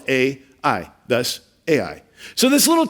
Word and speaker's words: Ai: The name is spelled A-I, thus Ai.